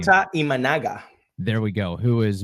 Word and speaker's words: Imanaga: The Rays luckily get to miss Shota, I don't know how to pronounce his last name. Shota Imanaga.